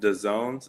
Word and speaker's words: DAZN: Uh it's uh on uh there's a streaming platform called The Zones. It's spelled D Azn.